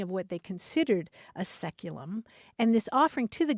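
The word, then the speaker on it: saeculum: c u luu m which in English is pronounced seculum it's traditionally understood to refer to the period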